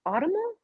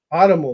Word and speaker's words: autumnal: Autumnal? Autumnal, like the season autumn.